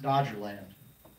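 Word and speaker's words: Doggerland: It looks like it's spelled different than we would pronounce it, but it's pronounced Dodger Land.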